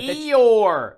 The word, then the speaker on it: Eeyore: Eeyore, like from Disney. Like the donkey?